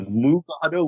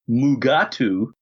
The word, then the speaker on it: Mugato: So it was changed to Mugato, which Kelly and William Shatner proceeded to pronounce Mugatu.